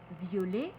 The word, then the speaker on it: violet: le double t au féminin et on va prononcer violet violette dans ce cas la double lettre permet